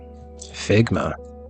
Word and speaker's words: Figma: Figma rhymes with ligma and that's funny.